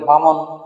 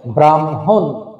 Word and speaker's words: ব্রাহ্মণ: তাহলে এর উচ্চারণ হবে ব্রাহ্ম, আগে ম হবে, তারপরে হ। সুতরাং উচ্চারণ হবে ব্রাহ্মণ।